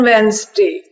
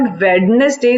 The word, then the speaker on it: Wednesday: बट ऑन वेंसडे, this is, बेटा एक तो याद रखें, this is नॉट वेडनेसडे, this is वेंसडे. The pronunciation is वेंसडे.